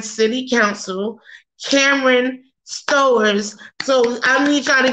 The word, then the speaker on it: Stowers: You mispronounced my last name. It's Stowers. You say Stowers.